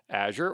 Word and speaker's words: Azure: certification well uh the Azure fundamentals is the entrylevel cloud certification for Microsoft Azure or Azure uh and you'll see me alternate between those uh pronunciations they're both accepted so whichever you prefer